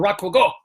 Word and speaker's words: Rakugo: Because is it Rakugo or Rakugo or Rakugo? Which one is it? It was the first one, Rakugo. Rakugo. With emphasis on the first syllable.